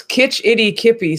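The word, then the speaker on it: Kitch-iti-kipi: Like Kitchy Kippy Springs. Close. Kitch Itty Kippy Springs.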